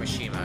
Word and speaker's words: Mishima: I gotta get used to calling him Mishima, because that's apparently how his name's actually pronounced.